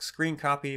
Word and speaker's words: scrcpy: name it's called scrcpy i pronounce it like screen copy while i've heard others